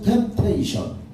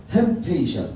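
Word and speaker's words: temptation: 실패케 하려고 시험한 것은 템테이션. 거기서 푸바름은 묵음이지. 그래서 템페이션 그건 죽이고 멸망시키려고 하는 마귀 시험.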